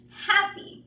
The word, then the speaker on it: happy: is ripped right hole then we have happy right I am happy now see how I make not so much of a sound but I do want to exaggerate for this class you can hear me right happy I am